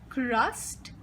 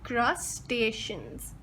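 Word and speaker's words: crustaceans: इसमें स्पेलिंग तो मुख्तलिफ है, लेकिन हमें याद रखना है कि क्रस्टेशियंस। तो हम इसको पूरी तरह कैसे बोलेंगे? क्रस्टेशियंस।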